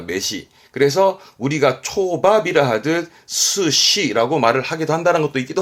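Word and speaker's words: 寿司: 목숨 수인데 수사로 써서 발음이 이게 스시입니다. 초밥의 스시를 한자 읽었습니다.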